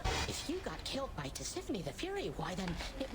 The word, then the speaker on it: Tisiphone: Tisiphone was her name. Here I've been calling her Tizzyphone this entire time.